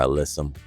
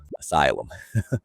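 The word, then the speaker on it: alyssum: And this flower is going to be our alysum oriental nights.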